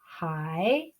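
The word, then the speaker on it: 海: haitun written out so this first character here is hi so that's this pronunciation here the third tone so hi is this first character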